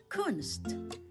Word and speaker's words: Kunst: In German auf Deutsch Kunst Kunst k u n s t Kunst That's the German word for art.